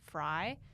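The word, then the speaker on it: Frei: It's spelled like Frey, but it's Fry because she was in my Argentina show.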